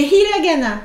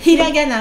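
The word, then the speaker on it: ひらがな: Les hiragana. C'est quoi ça? Ah, c'est quoi cette bête-là? Alors, attends. Moi, je te l'ai prononcé à la japonaise. Hiragana, mais tu peux dire hiragana.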